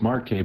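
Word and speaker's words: Marquette: in flooding because well that is pronounced Marque by the way uh forget that Z exists Mar what he said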